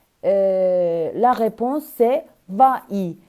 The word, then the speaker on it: vas-y: réponse c'est vas y mais en français s'il y a deux voyelles côte à côte c'est difficile de prononcer à c'est une voyelle y cette semi voyelles donc c'est difficile de prononcer c'est pour cela que nous ajoutons un s à la fin de va donc la réponse correcte